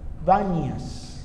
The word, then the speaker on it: Banias: Solo que las personas oriundas de allá, los majetas queridos, no son capaces de pronunciar la P, entonces ellos dicen Banias.